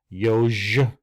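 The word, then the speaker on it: ёж: You have when you have the yeah with the dots over it, it becomes yo. Remember Rocky. Yo, Adrian. Yoj.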